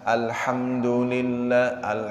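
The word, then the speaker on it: الحمد لله: Jadi kalau memfasihkan alhamdulillah, mimnya ini tidak boleh mendengung. Alhamdulillah, nah, itu kan dimasukkan hidung tidak boleh. Mimnya itu idhar dia. Jadi harus jelas dibacanya.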